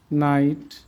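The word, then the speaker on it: knight: English ওয়ার্ডে এন এর আগে কে থাকলে কের উচ্চারণ সাইলেন্ট থাকে, অনুচ্চারিত থাকে। নি, not, NEET, no, নাইট, knife, knowledge. আমরা এবার অর্থগুলো শিখি।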